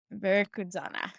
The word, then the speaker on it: Veracruzana: Well, you know the name, you know the pronunciation of the schools you went to. Only Veracruzana. Veracruzana.